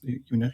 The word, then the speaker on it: UNESP: And when you shared the material, what you did at UNESP, is it pronounced like this? UNESP in Sao Unesp?